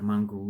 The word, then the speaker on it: mongrel: African or half Asian, they'll call me a mongrel in the past. Generally, we don't say that anymore because we are more accepting of people of different races, also mixed race. So that is what a mongrel is.